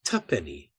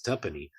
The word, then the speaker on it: tuppenny: you put them together, it's pronounced tuppenny in England.